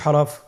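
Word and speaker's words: ح: পরবর্তী হরফ আমরা যেটা শিখবো সেটা হল হা। হা এর মধ্যে কোন নুক্তা আমরা দেখতে পাচ্ছি না। হা হরফটি কিভাবে উচ্চারিত হবে? হা হরফটি উচ্চারিত হবে কন্ঠনালীর মধ্যখান হতে।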